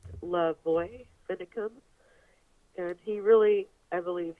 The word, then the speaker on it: LaVoy Finicum: But yeah, his name is pronounced Lavoy Finicum.